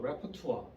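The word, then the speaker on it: répertoire: 레파토리가 이 원래 프랑스어 레퍼투아. 발음도 레퍼투아라고 읽어야 돼요.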